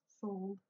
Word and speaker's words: soldes: Like, you know, I know the word for sale is sold, even though it's spelled soldes.